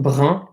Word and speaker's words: brun: Brun, for example, right? B-R-U-N. So anything with that U-N is pronounced un.